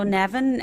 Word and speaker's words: Neven: And follow Nevin, and his name is spelled Neven Maguire on social media, and we will have links for it.